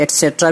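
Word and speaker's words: etc.: ये ETC है, इसका प्रोनाउंसिएशन आप एटसेट्रा भी कर सकते हैं।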